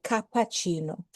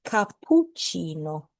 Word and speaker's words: cappuccino: Remember not to say cappuccino. It's cappuccino. And the double P means that there's a stronger pause.